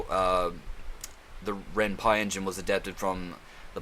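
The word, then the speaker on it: Ren'Py: from the word python because it's uh the renpie engine was adapted from the python engine or python coding something to do with the word python and so you know renye python you know renpi so yeah just for trivia that's why it's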